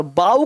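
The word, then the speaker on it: bow: देखो गौर से, बी ओ डब्ल्यू बो, बो का मतलब धनुष, और बाऊ कर दिया तो झुकना हो जाएगा, बाऊ मतलब झुकना, स्पेलिंग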